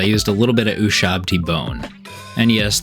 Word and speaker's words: Ushabti: a little bit of Ushabti bone. And yes, that took about 8 tries for me to not say Ushtabi bone. For whatever reason, it's ingrained in my brain to say it like that.